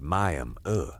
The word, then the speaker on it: Miami: Mantle grew up, then Miami, which is pronounced Miami here, not like the city in Florida.